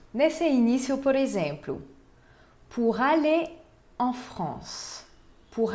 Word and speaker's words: aller: Nesse início, por exemplo, pour aller en France. Pour aller en France. Essa palavra aller termina com um R que não se pronuncia. Aller. Aller. Né? Não é aller, é aller.